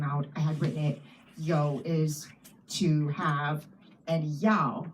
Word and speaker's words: you: may and yo, and only because yo is spelled Y-O-U, and I just thought it was too confusing to not flag it because you would just read it as English you, and so that's the